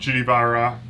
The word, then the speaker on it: Vajra: All right, so that is our email line, the Vajra, no pronunciation of the J, which we learned.